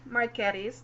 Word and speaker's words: Marchetti: OH oh honey o0 marchetti's decks and we have confirmed that these creator is Italian so the pronunciation is chill Marchetti Shiro Marchetti there we